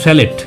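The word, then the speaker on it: chalet: বানানটা স্যালেট কিন্তু উচ্চারণ হবে স্যালে।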